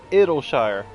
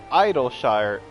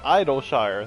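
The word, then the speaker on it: Idyllshire: least among them okay why are you saying it'll shire it's idle shire i mean they've said it as idol shire that's where i get the pronunciation from gratitude for the safe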